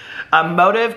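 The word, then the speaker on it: Modev: So he owns a candle company, and the candle company, I believe it's called, let me pronounce it correctly, Motive Candles, and it's M-O-D-E-V, okay?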